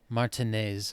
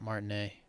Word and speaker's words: Martinez: i help you with martinez okay that's how you pronounce that it's not martin a um he sounds surprised